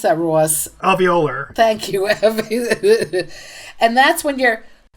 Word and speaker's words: alveolar: I don't know how to pronounce that, Ross. Alveolar.